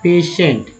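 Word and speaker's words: patient: तो है नहीं कहीं, तो दोस्तों ये है ना, टी आई से स उच्चारण हो रहा है, ई से ए, वही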